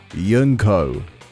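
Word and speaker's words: Junko: There is no Y sound. Yunko. That's a Scandinavian thing.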